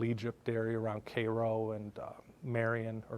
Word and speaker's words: Marion: And I went going from Chicago to Carbondale, Illinois, down to sort of the Little Egypt area around Cairo and Marion, or Marne, as it's properly pronounced, and up to Decatur, Illinois, right between